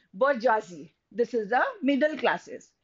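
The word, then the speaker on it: bourgeoisie: r g e o i s i e bji this is the middle classes the next is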